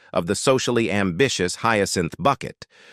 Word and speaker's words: Bucket: He is the calm, patient, and long-suffering husband of the socially ambitious Hyacinth Bucket, who insists their surname is pronounced Bouquet.